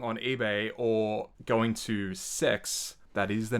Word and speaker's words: CEX: So in contrast, going on eBay or going to Sex, that is the name of the store, by the way. It's sex with a C. CEX. Yeah, CEX.